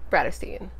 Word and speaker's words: Bratterstein: my name is my channel name is pronounced Brad Osteen today's video is going to be a fitness